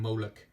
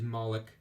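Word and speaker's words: Moloch: that maulik figure and i kept calling him molok they didn't know how to pronounce his name back then but yeah it is malik i do know that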